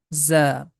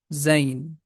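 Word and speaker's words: زاي: The name of this letter is Za. Strong sound, it has a buzzing sound, or we can say the name of this letter is Zain.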